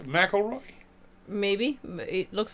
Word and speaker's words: McIlroy: Mroy, that's what that's how it's pronounced.